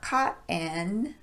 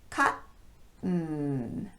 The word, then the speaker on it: cotton: Cotton, not cotton, but cotton.